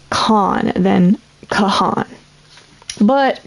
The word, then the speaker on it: Kahan: his name right, because a lot of people say Noah Kahan, like pronounce the H like that. But I think it's more of a like kind of like a pause in the A, like Kahan, like Khan, something like that.